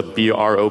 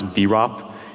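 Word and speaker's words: BROP: when you're vocalizing them so b r o p some people pronounce Bop it's actually pronounced bro actually and the winner is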